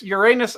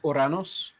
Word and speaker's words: Uranus: Uranus, it does sound like you're saying your anus. Indeed. Whereas the older pronunciation was Uranus.